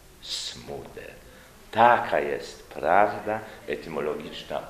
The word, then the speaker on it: Smuda: właściwie naturalniej był naturalniej byłaby wymowa Zmuda ale tu nastąpił proces od bezwizowego z i mamy dzisiaj Franciszka Smudę taka jest prawda etymologiczna